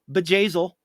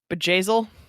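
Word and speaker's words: Bjayzl: white attending to a very important person named bejazel and how do you spell the gazelle uh it's spelled b j a y z l z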